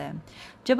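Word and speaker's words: هذا: अब हाज़ा को ऐसे भी लिखा जाता है और ऐसे भी लिखा जाता है। जब आप ऐसे लिखते हो तो भी इसका प्रोनाउंसिएशन हाज़ा ही होता है।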